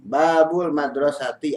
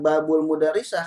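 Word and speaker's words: باب المدرسة: Silakan duduk tiga madrosati Babul madrosati atau pintu sekolah ya bukan Babul mudarrisah karena madrosah dengan mudarrisah kalau sudah gundul tulisannya sama kalau kita kalau membacanya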